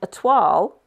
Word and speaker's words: toile: Oh, see, here's my little voice in the background there, reminding me that actually, a toile, oh, itchy nose, is a French word. It's spelled T-O-I-L-E, like toil, if you see what I mean.